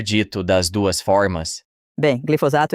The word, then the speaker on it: glifosato: Eu Já ouvi as pessoas dizerem pronunciarem de glisofato. várias formas. Glisofato é um que as pessoas tendem a dizer glisofato, trocando o S e o F.